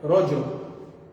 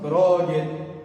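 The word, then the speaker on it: رجل: e o saudita, que no original é Rojol, que é ser dessa forma. Rojol. O mais próximo, Rogel, que é o egípcio, ou Rojar, que é o saudita, ou a Península Árabe, como eles pronunciam.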